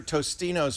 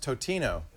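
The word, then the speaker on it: Totino's: We for a while we begged for we begged for Tostino's pizza rolls to do ads, and then I found out it's pronounced Totino, and so we figured that's going to be it, right?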